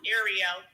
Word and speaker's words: Ariel: Is it Ariel? I think that's her name on Clubhouse. Yes, it's pronounced Ariel. Ariel.